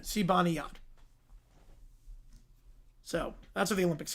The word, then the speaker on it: Zibanejad: The pronunciation for Zibanejad, that's what the Olympics gave. That's what the Olympics gave. That's what their website said. Zibanejad.